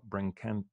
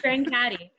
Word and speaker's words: Brancati: We're back with director Sean Cisterna and actress Paula Brancati. Oh my God. How do you say your last name again? Brancati.